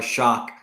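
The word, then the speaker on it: Shough: Both Underhill and Mike Triplett believe Tyler Shock, and I guess it's Shock now. I guess that's how we're pronouncing it.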